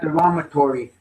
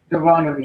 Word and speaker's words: Deuteronomy: I have trouble pronouncing that. Last week I had derogatory. How do we say it again? Deuteronomy.